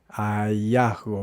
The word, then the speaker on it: hallazgo: hallazco es un descubrimiento, pero no no lo pronuncia así. Hallazgo, dice hallazgo. Hallasgo. Vamos a representarlo así con una J. Hallazgo. Y luego la G, la pronuncia también va de forma bastante débil.